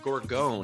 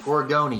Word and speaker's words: Gorgone: uh it's actually pronounced gorigoni you pronounce the e well let's just chalk